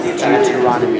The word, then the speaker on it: Deuteronomy: That it's like newt, like the lizard newt, or is that how you say newt? Old Deuteronomy. So old Deuteronomy.